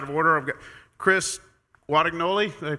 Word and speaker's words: Guadagnoli: I've got Chris Guadagnoli, did I pronounce it correctly? Close? Guadagnoli, it's Sorry.